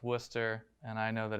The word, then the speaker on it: Worcester: lives in massachusetts um i know that it's pronounced worcester and i know that it's pronounced haverhill and